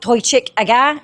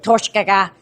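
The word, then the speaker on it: Toiteach A Dhà: When it's on its own, it means smoky, and it's pronounced as Toichik. When you add words to the end of this one means smoky too. It changes the way that you actually pronounce the first word. So it's not Toichik aga, it's Torshgaga.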